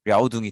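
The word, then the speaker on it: 遼東: 요거를 중국어 발음으로 하면 랴오둥이 돼요. 그래서 여기가 요동 반도고, 그리고 이제 요 지역을 요동이라고 해요.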